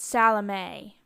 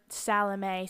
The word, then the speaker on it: Salome: Now, my grandmother pronounced it Salome, but I believe that in traditional Polish, it would be Salomia, and spelled that way on the bottom, ending in M-E-A, instead of the above, M-A-E, which Salomia is